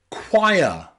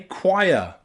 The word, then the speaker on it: choir: So here, O and I is pronounced ire, choir, okay, choir.